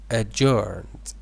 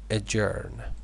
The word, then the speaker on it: adjourn: decision known so he adjourned let me write it uh adjourn adjourn D is not pronounced it means to postpone